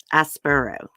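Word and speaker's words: Aspuro: see it's Emma Coronel aspero as burrow that's how you say it okay she was arrested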